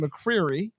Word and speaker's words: McCreary: McCreary.